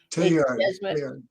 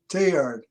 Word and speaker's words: Teilhard: And so sometime, I think it was in 1969, or maybe I came across concepts of Teilhard de Chardin.